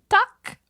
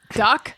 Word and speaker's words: tak: They go, tak. Duck? No, like tak, T-A-K.